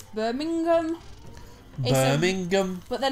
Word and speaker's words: Birmingham: And we were talking about this recently, actually, where she was saying, like, well, it's not the G they're actually overpronouncing, it's the ham part of it, so it's Birmingham.